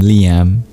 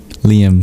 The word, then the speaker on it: Liyam: Yam is my name, my nickname. It comes from my full name, Liam. Liam, spelled with a Y.